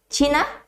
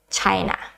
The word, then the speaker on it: China: how you pronounce china we don't say china but it's china c-h-i-n-a china okay so those are the